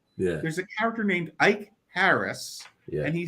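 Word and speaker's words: Ikaris: in that movie they kept calling a character Icarus do you know how the character's name is supposed to be pronounced icaris I would guess by the K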